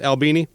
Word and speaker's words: Albini: That's the proper pronunciation for your last name, Albini?